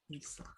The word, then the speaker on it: Isa: Yeah, there really is no other pronunciation in Tagalog for the I vowel. It wouldn't be Isabella or Isabella or anything like that. It would It just still be, would be pronounced E.